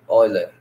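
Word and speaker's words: Euler: é chamada relação de oiler aqui que gente escreve el mas pronuncia ol a relação é essa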